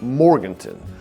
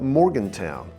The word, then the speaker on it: Morganton: Locals say Morganton, but you'll hear plenty of folks call it Morgantown. Both are fine. Well, no, not really.